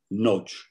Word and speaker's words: Nagy: Nagy se prononce en hongrois à peu près Nagy.